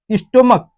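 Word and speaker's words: stomach: तो इसको आप अगर प्रोनाउंसिएशन करेंगे तो क्या होगा, मोनार्क, मोनार्क, स्टोमक, तो इस सीएच की मीनिंग जो आ रही है क आ रही है क, तो इसमें केवल आप यस लगाकर इसको प्लूरल बनाएंगे।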